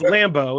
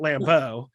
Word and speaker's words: Lambeau: i emphasize the wrong i emphasize the wrong syllable it's lambo it's not lambeau it's not french and fancy it's not what marcus